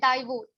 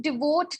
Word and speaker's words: devote: delivery boy tm samketh has pronounced one word wrong which was devote he pronounced it divorce but it should be to devote time the amateur has used